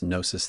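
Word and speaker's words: Gnosis: Um, and nosis rhymes with hypnosis.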